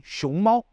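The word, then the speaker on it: 熊猫: Le panda se dit xiongmao. D'ailleurs, on en a déjà parlé dans une leçon précédente sur l'importance de bien prononcer les tons en mandarin. Petite parenthèse, xiongmao, c'est le panda.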